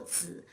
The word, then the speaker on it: 子: In this case, the syllable 子 always bears a neutral tone.